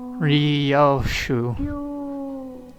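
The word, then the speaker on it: Ryōshū: Ryoshu. No, that's not how you read those letters. That's how you say it. It's prettier and easier.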